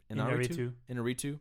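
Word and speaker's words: Iñárritu: Inarritu.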